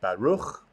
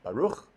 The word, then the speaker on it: Baruch: So our first word, Baruch, has a ch, sort of a hard H sound, almost a KH, Baruch.